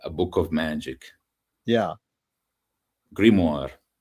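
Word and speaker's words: grimoire: Like uh I I don't really know how it's pronounced in English. How do you spell it? How do you spell it? G R I M O I R E in Oh wow. The French grimmoir.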